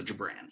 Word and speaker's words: Gibran: Is it Gibran? So yeah, the GI is pronounced J-A, so Gibran.